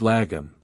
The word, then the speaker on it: lagom: It's called lagum. Lagum is pronounced log and it simply means just the right amount.